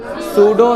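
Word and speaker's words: pseudo: और नाम है क्या सूडो सॉलिड कौन सा सॉलिड सूडो सॉलिड ठीक है इसमें पी साइलेंट होता है ये बात याद रखना है सूडो सॉलिड कौन सा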